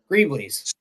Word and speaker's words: greeblies: How do you say that? Greeblies or Greebles? Greeblies.